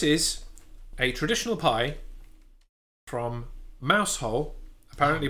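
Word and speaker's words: Mousehole: England uh this is a traditional pie from mous hole apparently pronounced mule in Cornwall Cornwall yes uh in honor of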